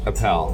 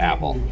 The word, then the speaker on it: Appel: And it is pronounced Appel, not Apple.